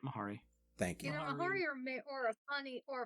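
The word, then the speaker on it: Mhairi: defense mahari thurston tyler m-h-a-r-i yeah that's right mahari thank you you know or a funny or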